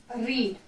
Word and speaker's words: read: पढ़ चुका था, मीन्स रीड। अब आप बोलेंगे मैम ने तो यहाँ पे READ रीड लिखा है, लेकिन जब हम इसको हेड के साथ यूज करते हैं इसका प्रोनाउंसिएशन हो जाता है रेड।